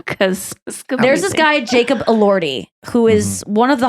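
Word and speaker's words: Elordi: all Lordi he I I pronounced it ordi when I looked him up the first time that is wrong all Lordi I think it is he's so hot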